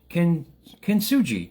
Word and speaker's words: kintsugi: I'll try to pronounce it in a lot of syllables that it kintsugi.